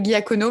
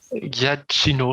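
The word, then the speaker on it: Giacchino: pas la même prononciation moi je dit michael guy akono mais ça ne doit pas se dire comme ça je pense à cette box suisse je pense que ça peut se dire comme ça c'est guy acino je crois mais et voilà c'est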